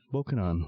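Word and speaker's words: Bokonon: to this very day how he came by the name Pokemon was very simple bokunan was the pronunciation given the name Johnson in the Island's English dialect as for that dialect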